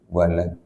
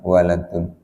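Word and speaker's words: ولد: Kalau yang dilahirkan namanya waladun, walad. Menjadi bahasa Tegal ya, waladun ya kan. Itu bahasa Arab aslinya, waladun. Maka pengucapannya logat kita ya, walad ya, Pak.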